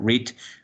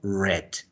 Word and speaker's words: read: Lo único que va a cambiar, la única que cambia de pronunciación es la palabra read. En presente, obviamente vamos a leer read, pero en pasado vamos a leerlo como read.